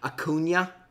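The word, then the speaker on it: Acuña: on a recording and you say hakuna and not a Cunha a Cunha ten people are gonna tell me Justin do you know that this is how you say it I do I purposely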